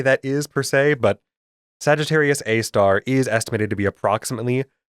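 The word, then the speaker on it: Sagittarius A*: our galaxy is named Sagittarius A star and yes you do pronounce the asterisk as star. I don't remember why that is per se, but Sagittarius A star is estimated to be approximately 4 million solar masses.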